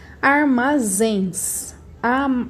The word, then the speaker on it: armazéns: Armazéns. Armazéns. A palavra mais forte, aliás, a sílaba mais forte é o zens.